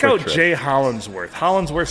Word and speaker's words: Hollingsworth: Hollingsworth sounds just like Absolutely. Spelled just like it's spelled.